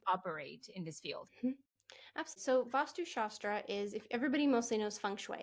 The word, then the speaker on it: vastu shastra: fascinating and I had never heard about before vastu shastra now I'm saying that correctly yes you're saying